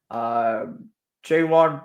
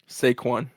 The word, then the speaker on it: Saquon: Jaywan Barkley. I butchered his name, didn't I? Saquon.